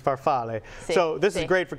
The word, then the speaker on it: farfalle: an adult and again that's farfalle if you want to say the actual pronunciation is farfalle so this is great